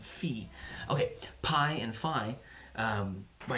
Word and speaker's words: phi: numbers like PI or fie fie I spend a degree in college it's actually pronounced P and fee okay PI and Phi